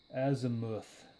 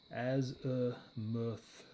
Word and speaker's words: azimuth: Azimuth looks like the way to say it. Azimuth.